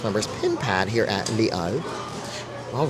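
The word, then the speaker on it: Les Halles: she told me that you do not pronounce the h or the S on that portion at the 's part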